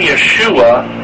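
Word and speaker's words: ישו: Now, Yeshu, the name Yeshua in Aramaic is pronounced Yeshu.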